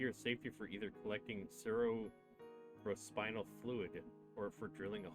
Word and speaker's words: cerebrospinal: Look at the spelling. B-R-O. Not B-R-I-L. Oh. Cerebral? You see how it's spelled right here? Cerebral spinal. Cerebrospinal. It's a cerebral spinal fluid. It's not cerebral real.